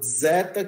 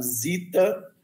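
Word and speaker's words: ζῆτα: É os deta ou zeta, que algumas pessoas pronunciam zeta, e no grego moderno é pronunciado zita, que é uma combinação de sigma e delta, ou de delta e sigma.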